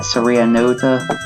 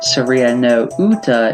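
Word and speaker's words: サリアの歌: is uta by itself, but following no, it's just pronounced Saria Nota. Basically, when speaking comfortably without placing emphasis on the kanji, you would simply pronounce the preceding vowel as a long vowel. So there it is. Instead of Saria no uta, it's Saria nota.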